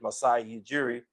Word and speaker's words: Masai Ujiri: think the name is Masai Ujiri, I cannot pronounce his name, it's Masai Ujiri.